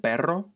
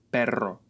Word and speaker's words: perro: Another good exercise is to compare the pairs of words pero and perro, and also caro and carro.